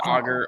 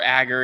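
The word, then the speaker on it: agar: Uh we use augur or agger in our media. It depends on how you pronounce it.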